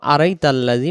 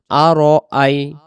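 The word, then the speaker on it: أَرَأَيْتَ: আরজি এই শব্দ যেন আড়াই তাল্লাজি উচ্চারণ না হয় আড়াই তাল্লাজি উচ্চারণ করলে র অক্ষরে জবরে মোটা হয় র বলতে হবে আর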